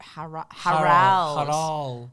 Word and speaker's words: Harald: Harold Bluetooth. Harold Bluetooth. Harold Bluetooth. Let's see what I can find. Harold Bluetooth? Harald.